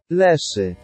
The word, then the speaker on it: Leshy: Fun fact is that they chose to call it Leshy in Season 2, which is fair, I believe that's the Polish pronunciation. Leshy.